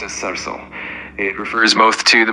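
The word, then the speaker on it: सरसों: In Hindi, mustard is called sarso, pronounced as sarso.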